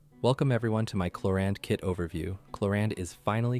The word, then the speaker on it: Clorinde: And before anyone comments on the pronunciation of Clorinde's name, in the game, it's pronounced as Clorinde.